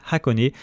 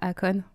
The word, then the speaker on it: Hakone: se prononce honé donc avec un h aspiré au début on peut aussi simplement